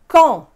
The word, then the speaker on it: Caen: Caen, Orléans, Nantes, Avignon, Dijon. Again, you do not hear those consonants, those N's. It's one sound.